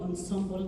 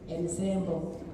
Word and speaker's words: ensemble: There are very many people who pronounce it variously and the worst that I've ever heard is somebody who said ensemble. So people can we try and say ensemble ensemble or that is a word that came from French and therefore it has that kind of um pronunciation in the Kenya music festival.